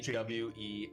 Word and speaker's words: Jules: Jewel. Okay, so it's spelled like Jules, like Jules. Yes, Not like Julia. but Like her- Jules, not like Jules Verne. No, Not like Jules. no. It's Jewel, and then on the sign it's apostrophe S.